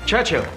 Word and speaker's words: Churchill: Churchill, that's how you say it, all together like that. I'd heard church and hill, but couldn't find either.